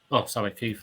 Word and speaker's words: Keighley: Keith. Okay, that's how it's pronounced.